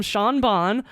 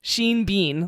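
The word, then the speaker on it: Sean Bean: I love the joke you either call him sha Bon or Sheen Bean like why is it sha Bean spelled the same it doesn't make sense so true sha bean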